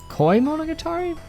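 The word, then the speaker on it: Koimonogatari: to it's a koi koi monogatari is how you say that like a koi fish and this one's got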